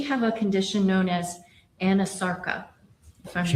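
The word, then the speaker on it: anasarca: examiner, did she have a condition known as Anasarka? If I'm not mispronouncing it. No, you're pronouncing correctly. She did have a condition called Anasarka.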